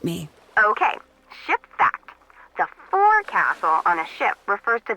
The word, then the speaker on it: forecastle: of a sailing ship, but it's pronounced forecastle. Why's that? Try pronouncing it like an English sailor with no formal education. Forecastle. Forecastle. Over time it whittled down.